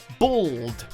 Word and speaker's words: bald: Tom Hado number 9 bald for whatever reason it's common in America to pronounce this word as though it was spelt with an O and not with an A which led to some